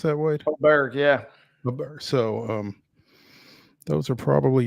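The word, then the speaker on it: Åberg: Is that how you pronounce that, Wade? Aberg, yeah.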